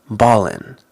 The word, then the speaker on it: ballin': In slang, we often don't pronounce the G, especially words that end in ing. It more sounds like in, ballin', stylin'.